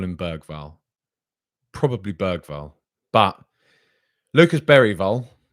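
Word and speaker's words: Bergvall: pronounce their names and Lucas bergville as I've been calling him as most I've been calling him or baywell as I'd also got told he was called um beral beral are we gonna call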